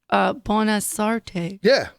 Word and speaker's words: Bonasorte: Bonasorte.